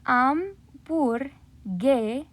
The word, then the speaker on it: hamburguesa: We have the remembering that H is silent. So we have bur, and then right here we see that letter combo. We skip over that U, giving us that ge sound. So we have hamburguesa.